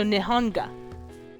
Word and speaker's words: Nihonga: Foreigners visiting Japan during the Meiji period called this Japanese painting, which the literal Japanese translate as Nihon and Ga. So Nihonga.